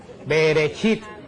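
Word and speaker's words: בראשית: El Génesis en hebreo se diceit. Beresit se dice que la palabra bereshit quiere decir en el principio.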